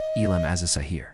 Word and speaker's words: Ilm al-Zahir: Limal Zahir pronounced ilim as a sahir literally means outward knowledge or exoteric knowledge.